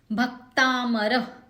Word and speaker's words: भक्तामर: भक्तामर, भ ह्रस्व है, क से त जुड़ा हुआ है यानी कि जुड़ाक्षर है, सो भ पे जोर देंगे।